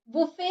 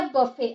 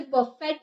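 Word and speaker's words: buffet: Next है हमारे बुफे बुफे या बफे आप इसे टी का उच्चारण नहीं करते आप इसे बफेट नहीं पढ़ सकते बफे या फिर बुफे छोटी भोजनालय या आहार कक्ष को हम बुफे कहते हैं।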